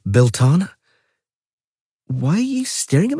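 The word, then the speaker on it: Belleteyn: Where right now it's the second full moon after Bellatine and Bellatine is pronounced Belana.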